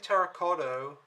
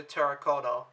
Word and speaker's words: terracotta: pronounced xi'an wrong and i think i've been saying terra cotto where it's actually terracotta so i apologize my